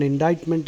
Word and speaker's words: indictment: an offense actually an indictment is a charge sheet which is read out in a court of law uh stating that this person has committed so and so crime the C is silent indictment there is another indite